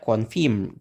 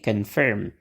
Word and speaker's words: confirm: suku kata yang ada Onya itu gak distes Nah berarti o-nya kita pakaiwawa itu apa kita ingat-ingat lagi ya itu adalah bentuk e yang lemah jadi kalau bentuk e yang kuat itu e kalau bentuknya yang lemah itu e gitu ya oke sekali lagi kita e Ucapkan kata ini ya mengonfirmasi oke confirm confirm jadi jangan lagi kita baca confirm confirm gitu ya tapi confirm Oke kata yang kedua